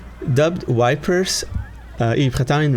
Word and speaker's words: Ypres: a little description about EEP dubbed wipers in Italian ruins dubbed wipers by British troops due to its difficult pronunciation wipers the Belgium